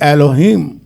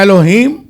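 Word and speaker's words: Elohim: इब्रानी का जो मत है खुदा ने कहा उसके लिए एलोहीम का लफ्ज है।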